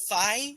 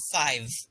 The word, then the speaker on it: five: So I've noticed you are having a little bit of trouble saying sh and v, as in you're saying C instead of she, and fi instead of five.